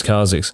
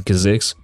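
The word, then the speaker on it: Kha'Zix: flat also known as Kix I've changed up my pronunciation because some of you lowkey flamed me for saying kazik the things I do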